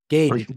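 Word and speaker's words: gauge: formal gaj G gaj how do you pronounce that in English yeah g g Gage like the reservoir it's my fuel Reservoir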